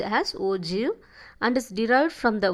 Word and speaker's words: ogive: ஓகேவா, the term ogive is pronounced as ogive and is derived from the word ogi.